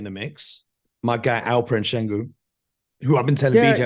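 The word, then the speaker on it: Şengün: I think this kid Shingun. Am I pronouncing his name? Sengun.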